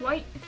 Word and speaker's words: Wight: Isles of Wight? It's like white as in white.